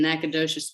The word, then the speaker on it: Nacogdoches: passed in Nacogdoches, Texas, which you should know is pronounced like your toes in Corpus Christi sand, not like the slap and dash verbal clip of a Cajun syllable slipping mouth, which lives in the other Natchitoches, the Louisiana Bayou, slippery tongue one.